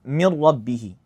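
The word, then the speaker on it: مِن رَّبِّهِ: So, I'd say instead of So, like in Arabic it's min rabbihi, but in the Quran I'd say mir rab mir rabbihi mir rabbihi. So, notice I'm pronouncing the two consecutive letters as one single letter mir rabbihi mir rabbihi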